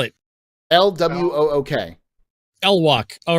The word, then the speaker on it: LWOOK: LWOOK. L-Walk. All right, let's go. I thought it was L-Walk. L-Wook. Yeah, that's what I said before. He said that was wrong. L-Walk is wrong, is what he said.